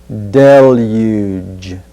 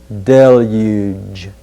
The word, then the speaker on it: deluge: we'll look at deluge notice the end of this word sounds like fudge huge budge deluge deluge next let's look at